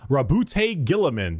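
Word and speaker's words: Roboute Guilliman: Primarch, Rabute Gilliman.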